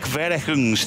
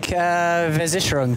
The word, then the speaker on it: Versicherung: Click Verehungs team. You speak German, David. What? How do I pronounce that? Here we go. You put me on the thing. Click Versicherung team.